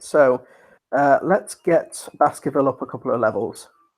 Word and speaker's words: Baskerville: a tight tight spot Baskerville yeah yeah i the e is silent anyway in Baskerville so that works out right so let's get Baskerville up a couple of